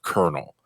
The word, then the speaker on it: colonel: that's what it is why is it pronounced colel what loophole of English language is being worked here for it to be pronounced kernel like that is literally like split